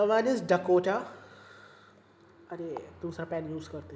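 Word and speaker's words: Dakota: तो आपके किसी काम करे आपको सुनना है कोकोटा सॉरी डकोटा आपके किसी काम करने है आपको सिर्फ इन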